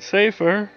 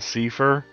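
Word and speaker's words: Seifer: out oh and safer I I go between safer and Seer uh I said I know I said Seer earlier but safer is actually kind of my preferred pronunciation it's like the case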